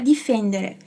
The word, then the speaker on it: difendere: Então, a pronúncia do D, quando tiver um I depois, vai ser sempre assim, di.